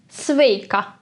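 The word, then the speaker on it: sveika: front of us then the greeting turns into sveka see it's the same as stakes but with an a at the end this a in the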